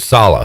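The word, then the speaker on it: Saleh: twitter somebody said that to pronounce the last name just rhymes with holla holla robert salah he was big in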